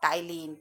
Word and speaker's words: ptyalin: That enzyme is salivary amylase, which is also known by the name of ptyalin. P is silent here.